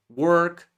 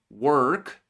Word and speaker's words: work: Say letter R in the word work and you sound like an American. Don't say that letter R in the same word and you sound more like British.